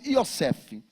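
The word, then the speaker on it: יוסף: de José na verdade no hebraico e ocef porque porque eles não pronunciam a palavra J então eles pronunciam yosseff e a palavra Yossef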